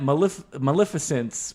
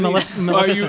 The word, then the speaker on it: Maleficent: The guy who directed that Maleficence movie. Oh, that's right. I'm saying it wrong. He was a VFX guy as well, Maleficent.